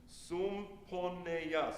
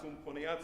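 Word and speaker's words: סומפניה: The whole Sumponeya. Sumponeya sounds like the word symphony, right?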